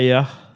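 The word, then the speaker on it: Éire: C'est Air.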